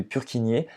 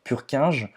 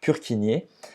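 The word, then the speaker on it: Purkinje: réseau sous endocardite de pure qui niait et non pas donc pure 15 on prononce donc pure qui nié ce faisceau de hisse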